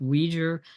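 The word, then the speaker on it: Uyghur: laws coming in um I'm not exactly sure how to pronounce this one but I think it's been pronounced weijer which is the uh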